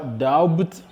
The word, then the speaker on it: doubt: Ne dites pas doubt, mais dites simplement doubt.